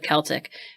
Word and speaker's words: Celtic: While McWhiney focused on the Celtic roots, and I do pronounce it Seltic and instead of Keltic and as someone whose DNA keeps showing up as 97% Irish, I'm gonna run with that.